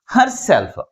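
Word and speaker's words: herself: That means last syllable pronounce with greater force comparing with first one. That's why the primary stress is ఆన్ the last syllable.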